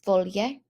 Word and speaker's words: foglie: Two things to notice here are that GLs in Italian make an LY sound. So leaves was not a gl sound in there, but it was foglie.